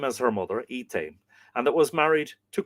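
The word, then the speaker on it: Eithne: They had one daughter that was called by the same name as her mother, Ethane. Apparently this in middle Irish this name would be pronounced Eden.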